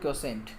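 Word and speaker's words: quotient: ऊपर लिखा है ना, इसको बोलते हैं क्वोशेंट। क्या बोलते हैं? क्वोशेंट। तो ये क्यू से स्टार्ट हो रही है स्पेलिंग, इसको क्वोशेंट बोलते हैं।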